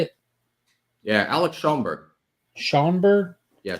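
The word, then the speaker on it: Schomburg: Yeah, Alex Schoenberg. Schoenberg? Yeah, Schoenberg.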